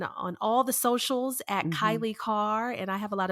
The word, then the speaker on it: Kailei Carr: find me on on all the socials at Kylie car and I have a lot of vowels in